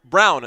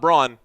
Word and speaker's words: Braun: So Brown, not Braun.